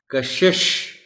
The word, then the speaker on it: کشش: صاحب صحیح ہے۔ دلچسپ، کشش، یہ جو پہلا شین ہے اس کے نیچے زیر ہے، عام طور پر لوگ